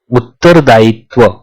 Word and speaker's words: उत्तरदायित्व: The pronunciation for उत्तरदायित्व इज उत्तरदायित्व.